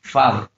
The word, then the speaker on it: father: Then, for example, we have the word father. Then it has two syllables, and the prominence or the emphasis is on the first one, father.